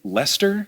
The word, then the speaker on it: Leicester: Then there's, I think this one, do you just say Leicester? Leicester. Okay, yeah, but it's spelled like Leicester.